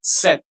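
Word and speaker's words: cet: The next one is set. Set. The third one again will be pronounced as set.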